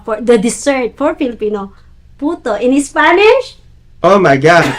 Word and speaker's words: puto: Instead of saying puto, they pronounce it poto.